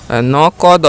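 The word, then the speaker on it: नकद: কি হবে নগদ ন নক দ নকদ ঠিক আছে হিন্দিতে নকদ নগদ না নকদ নক দ নকদ ওকে তারপরে নেক্সট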